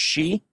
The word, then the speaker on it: Xi: poisoned so they say china's president's last name is pronounced she okay oh i can